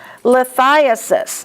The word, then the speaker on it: lithiasis: Lithiasis. Thigh is the accent.